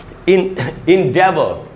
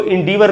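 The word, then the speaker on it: endeavour: इसको इंडीवर नहीं पढ़ना चाहिए, इंडीवर, इंडीवर नहीं होगा दोस्तों। ये देखिए आपके सामने उच्चारण लिखा है इंडेवर, इंडेवर, डै में जो ए है उसी पर स्ट्रेस है, इंडेवर।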